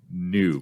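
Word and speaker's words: n00b: From what I understand, that is pronounced noob.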